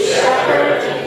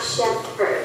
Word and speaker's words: shepherd: Although it's PH, but it's not pronounced like it's H 没有发音。So shepherd. It's not shepherd, okay?